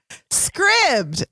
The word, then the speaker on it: Scribd: from home during a global pandemic number one scribbs have you heard of script yeah okay that's spelled s is in Sam C is in